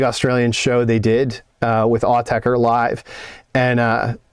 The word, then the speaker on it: Autechre: promoting a big Australian show they did with Autechre live.